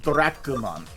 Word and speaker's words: Dracumon: Like in Japanese, it's pronounced Dracumon, as in Dracula.